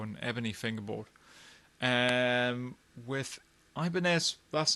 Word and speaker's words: Ibanez: is a ibon f ibanez depending on how you want to pronounce it uh apparently the original pronunciation is ibaneth um anyway ibanez as